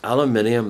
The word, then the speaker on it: aluminium: there an aluminium one yes aluminium that's the correct pronunciation there's an aluminium one